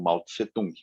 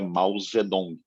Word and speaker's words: Mao Zedong: revolução comunista feita pelo Mao tsé-tung e agora se pronuncia Mao zedong Como é que chama